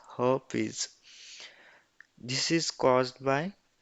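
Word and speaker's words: herpes: is herpies or heres here R is silent so pronunciation is her is this is is caused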